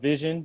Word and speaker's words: Vizhen: Yeah, so it's called Vision, but it's spelled like how you would. It's spelled Vizhen, like how you would pronounce it.